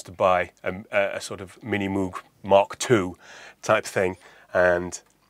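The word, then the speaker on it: Minimoog: But to be absolutely honest with you, it doesn't really sound like a Mini Moog, or Mini Moog, as the Americans say.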